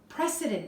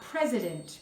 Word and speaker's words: precedent: is the term precedent now precedent not President P re CED II and to precedent the